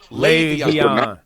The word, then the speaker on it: Le'Veon: Le'Veon.